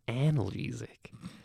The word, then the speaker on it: analgesic: It's pronounced analgesic, and so they give it to you, and they're like, just press it as many times as you want.